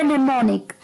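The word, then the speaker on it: mnemonic: पहले बात सुनी है जो इसमें एम है वो साइलेंट है जी हां पहला अल्फाबेट एम जो है वो साइलेंट है सो य वड निमोनिक एम एन ई एम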